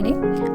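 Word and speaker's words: gnaw: The wood पैकर, अब उस कठफोड़वे ने, आस्क्ड मीन कहा, दी टोर्टोइज उस कछुए से, टू नो मीन काटने के लिए। देखिए GNEW, इसमें जी हमारा यहाँ पर साइलेंट है, इसलिए हम इसको नो बोलेंगे।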